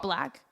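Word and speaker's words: Blaque: It's spelt like plaque, but with a B. So Black.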